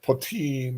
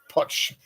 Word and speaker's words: poteen: Make sure you have plenty of poteen or pochine, or however you like to pronounce it.